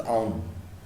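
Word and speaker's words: Auðun: Ahdun. While the actual pronunciation is Aun.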